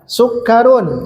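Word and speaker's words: سُكَّرٌ: Sukarun tidak mungkin sakarun, sikirun atau sukurun tidak, pasti ada tasydid sukarun.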